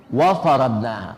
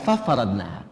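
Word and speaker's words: وَفَرَضْنَاهَا: Wa faradnaha, bukan fa faradnaha.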